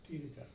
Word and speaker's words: Thiedeke: And my son lives in London, and he pronounces it Thiedeke, like they do in which is European pronunciation.